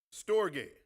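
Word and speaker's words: storge: This is the way it's pronounced. Everybody can say that. Store what? G- a y. Stogate.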